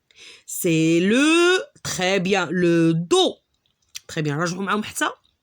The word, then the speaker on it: dos: lettre d d le dos et on fait le rappelle que la la dernière lettre c'est une constante qu'on prononce pas elle est muette en continu le dos